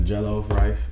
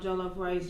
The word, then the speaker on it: jollof: You saying we got the jollof rice. That's how you pronounce it, right?